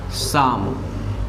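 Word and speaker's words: psalm: एक भजन, तो ए शाम। ये लिखा गया है, इसमें PSLAM है, इसमें P और L साइलेंट रहता था, हो गया शाम।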